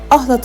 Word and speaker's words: Ahlat: Şehir Bizanslılar döneminde Kıhlat, Süryaniler döneminde Kihelat, Araplar döneminde Halat, İranlılar ve Türkler döneminde ise Ahlat olarak telaffuz ediliyordu.